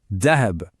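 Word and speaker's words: ذهب: Écoutez bien le début du mot. Dahab. On sent cette petite vibration du th sur la langue.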